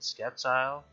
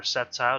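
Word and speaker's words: Sceptile: party in here man we got a freaking skepti or septile depending on how you want to pronounce it we got a crocodile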